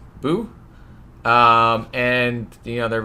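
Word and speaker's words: Bhu: bird i'm gonna say it's pronounced boo b-h-u boo um and you know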